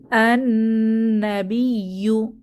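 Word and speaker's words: النبي: নিদর্শনসমূহ বা আয়াতসমূহ এরপর আন্নাবিয়ু আন্নাবিয়ু এখানে শামসি হরফ আসার কারণে লামের উচ্চারণ হচ্ছে না আননাবিয়ু অর্থ নবী এরপর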